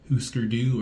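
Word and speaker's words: Hüsker Dü: Bob Mold, formerly of Huskerdoo or Husker, depending on how you say it.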